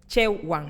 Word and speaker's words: Chewa: And tell me, I say right the name of the second language is Shewa. How I pronounce it? It's pronounced like che one che Che one. Yeah, Chewang.